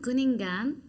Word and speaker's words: Kuningan: And in Galungan and Kuningan, I'm saying it right?